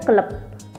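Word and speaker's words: كلب: Misalkan ya ini hewan, misalkan anjing gitu ya, al-kalbu dalam bahasa Arab. Di sini bilangnya keleb.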